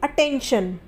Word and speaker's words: attention: उसी तरीके से अटेंशन, ATTENTION। तो यहाँ पर भी टी के बाद ION है, तो आई का जो उच्चारण होगा वो अ होगा, अटेंशन। क्लियर हुआ?